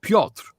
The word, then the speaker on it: Piotr: It's pronounced Piotr. It's Polish for Peter, Piotr. And the R is almost silent, so you can go Piotr.